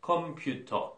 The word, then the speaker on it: computer: 그런데 진짜 중요한 건 뭐냐면, 여기에다가 강세를 주는 거예요. 그게 사실 영어의 진짜 영어를 듣는 그 길이거든요. 컴퓨터, 요런 소리죠. 컴퓨터.